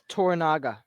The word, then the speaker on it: Toranaga: How do you pronounce the Sanada's character's name? Toranaga.